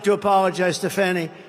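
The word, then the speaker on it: Fani: like to apologize to Fanny it's F A ni I she pronounces it fonny PA I don't see it to me it's Fanny the very first bill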